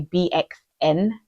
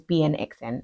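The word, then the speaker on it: BNXN: gonna forget his name I always want to say bxn but his name is BN xn anyway anyway let me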